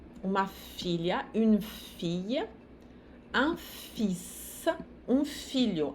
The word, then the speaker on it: fils: Une fille, un fils, um filho. Aqui o S se pronuncia e o L anterior, que não se pronuncia.